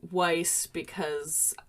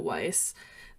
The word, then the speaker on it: Weiss: Well, I would pronounce it Weiss well, first of all, because there is a grocery store named, and everyone calls it Weiss. But also in the movie Rocky Horror, we get confirmation from Janet that it is pronounced Weiss. She even corrects Brad. However, are you about to